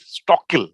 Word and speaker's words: Stockal: stock hold on guys stockhill right that's how i'm supposed to pronounce it right it's talking yeah